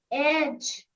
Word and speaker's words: edge: Edge. Edge. Edge.